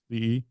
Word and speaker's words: Pesce: Pesce. Pesce.